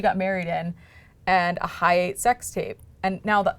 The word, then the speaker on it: Hi8: Is it like It's Hi8. Oh, okay. Like, it's spelled like this. Oh, I thought you were like, it was at the Hyatt.